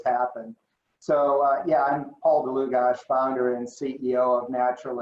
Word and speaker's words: Dlugosch: here in Boise because you actually pronounced my name right. Dlugosch is exactly right. So thank you for that. It doesn't always happen. So yeah, I'm Paul Dlugosch, founder and CEO of Natural Intelligence.